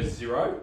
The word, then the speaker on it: Xero: of them out there we prefer xero um it's spelt with an x xero it's a bit of an odd one but um i'll put